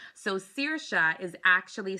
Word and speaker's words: Saoirse: Gaelic language at all, you know that the way Gaelic names are pronounced completely different from the way they are spelled. So Saoirse is actually spelled Saoirse.